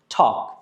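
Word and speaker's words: talk: বলে incorrect pronunciation so টি এল কে এটার pronunciation হবে টক কি হবে প্রোনাউন্স করেন ওকে তারপর হচ্ছে টেল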